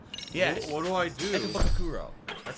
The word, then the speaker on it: Ikebukuro: Ikebukuro.